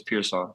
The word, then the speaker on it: Pearsall: Everybody kind of butchers it, but it's Pearsall. That's how you pronounce it.